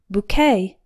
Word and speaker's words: bouquet: arranged group of flowers boo rhymes with two and q ue t sounds like the k in okay the stress is on the second syllable bouquet number eight mortgage a